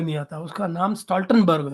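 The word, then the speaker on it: Stoltenberg: यार इस बंदे को नाम लेना भी नहीं आता, उसका नाम स्टॉल्टनबर्ग है।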